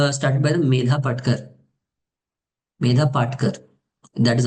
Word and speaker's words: Medha Patkar: Medha Patkar. That is how we pronounce her name.